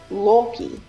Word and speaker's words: Loki: Loki is correctly pronounced Loki.